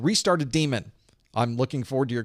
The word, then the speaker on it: daemon: It really is daemon. It's also absolutely, completely acceptable to call it daemon.